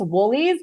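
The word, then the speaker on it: Wholey's: calling it Holly so again that's the Pittsburgh accent it's woolies but it's spelled w l e Ys like whole e but it's woolies so that's that that's a Pittsburgh accent right it's this like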